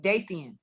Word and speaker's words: Dathian: i'll be good right my real name was meant to rhyme with damian so my name is dathian that's how you pronounce it oh okay yeah